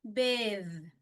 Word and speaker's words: bathe: th එයාගේ voiced sound එක දෙනවා e පිටිපස්සෙන් silent e පිටිපස්සෙන් ඉන්නවනම්. එතකොට මේක bath මේක bathe.